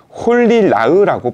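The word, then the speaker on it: חֳלִי רָע: 악한 병이라고 표현하고 있습니다 히브리 원화로 살펴보면이 악한 병을 홀리 라흐라고 발음하는데요 이것은 고통스러울 정도로 나쁜 일을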